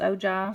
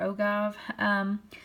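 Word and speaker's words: ogive: you ask this is said pronounced Oh JA or Oh cough this is a line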